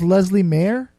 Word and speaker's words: Leslea Mair: interview so here it is my interview with Leslie Mayer your name is Leslie mayor is that yeah okay that's how you pronounce that yeah Leslie and the name